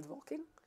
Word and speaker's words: Dvorkin: Yes, from Michael Dvorkin.